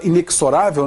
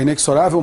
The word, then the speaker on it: inexorável: ável projeto bem a muita gente fala inexorável né é inexorável marcha do tempo mas na realidade é inexorável a pronúncia de lytham